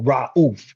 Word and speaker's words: Rauf: Then he converted to Islam and he changed his name to Mahmoud Abdul Rauf or Rauf, as some would pronounce it.